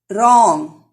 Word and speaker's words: wrong: Wrong. W is silent here.